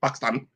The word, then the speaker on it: Pakistan: Pakistan, they consider themselves quote unquote brown people if you ever meet them and and talk to them.